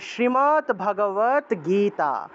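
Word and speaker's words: শ্রীমদ্ভগবদ্গীতা: গ পাওয়া যাবে এই হসন্তযুক্ত দটাকে হসন্ত হিসেবে উচ্চারণ করা হয় তাহলে শ্রীমদ ভাগবত গীতা শ্রীমদ ভাগবত গীতা শ্রীমত ভগবত গীতা বলা যাবে না ও শ্রীমত ভগবত গীতা আচ্ছা তারপরে আমাকে বলবেন জীবন সরকার জীবন সরকার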